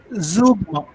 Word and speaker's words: zeugma: It is pronounced zeugma.